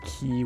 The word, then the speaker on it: cay: but it's key foreign I see a lot of people also make that mistake with key when it's spelled c-a-y because there's a bunch